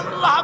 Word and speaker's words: আল্লাহ: আল্লাহ পাকের উচ্চারণটা হচ্ছে, আল্লাহ পাকের নামকরণ হচ্ছে আল্লাহ। মুখটা একটু গোল হয়ে যাবে, বলেন আল্লাহ আল্লাহ।